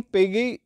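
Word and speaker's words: Piaget: देख लेते हैं जीन पगी पी पेज भी बोलते हैं पिगी भी बोलते हैं ठीक है टी यहां पे साइलेंट है थिरी ऑफ कॉग्निटिव डेवलपमेंट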